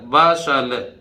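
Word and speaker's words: bustle: तो ब, ये BU तो बा, और ये STLE क्या बोलेगा, सल, बसल, ये ला बोल गया, बसल। बसल माने चहल पहल, टी नहीं बोलेगा।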